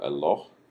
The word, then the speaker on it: Eloh: Now notice you've got El, and then this is kind of a long O sound, and then H at the end. So Eloh, and the plural form of this is Elohim.